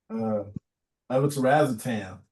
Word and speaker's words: levetiracetam: It says levetiracetam.